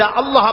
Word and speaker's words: আল্লাহ: কেউ বলে না আল্লাহ আল্লাহ পাকের উচ্চারণটা হচ্ছে আল্লাহ পাকের নাম উচ্চারণ হচ্ছে আল্লাহ আল্লাহ মুখটা একটু গোল হয়ে যাবে বলেন আল্লাহ আল্লাহ সুবহানাল্লাহ